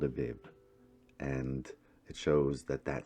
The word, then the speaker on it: Abib: And going on to Exodus 13:4, it does name the first month of the year as Abib, pronounced Aviv.